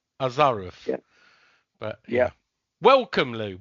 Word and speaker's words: Ozarow: name, which is Polish, Ozarow. Yes. Oh, Is that that's close? probably a Polish pronunciation. It's Ozarow, English pronunciation.